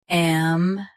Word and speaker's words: ambiguous: Keep U clear and finish with us. Ambiguous.